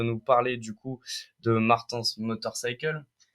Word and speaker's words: Martens: Martin qui va nous parler du coup de Martens motorcycle je prononce bien yes Martens motorcycle Martens motorcycle bah du coup déjà présente-toi